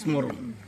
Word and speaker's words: স্মরণ: উচ্চারণটা কিন্তু স্মরণ, আগের ভাবে বললাম আর কি।